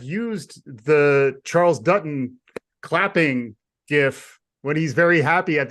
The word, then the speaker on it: GIF: allowed to use the GIF is it gif I thought we talked about this I I'm I'm a I'm a hard G guy we'll say hard G yeah I've been a